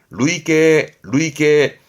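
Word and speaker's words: 累計: 발음은 루이계. 누적된 합계를 말할 때 루이계.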